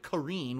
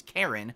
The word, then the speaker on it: Karin: weekend, Rashid and Karin, I think they pronounce it Kareen, which is hilarious, because you think it's Karen, but it's Kareen, apparently.